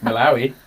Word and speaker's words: Malawi: ooh exciting exactly and i pronounced it wrong earlier but malawi is what did you say